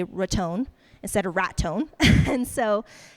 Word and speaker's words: Raton: Every time I search Red Zone, the first thing comes up is Boca Raton.